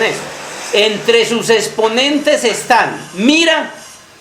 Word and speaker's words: Mira: La pueden encontrar como Mera o Mira. Sí. Sí. Entonces, entre los exponentes de este camino está Mira, que Mirabai era una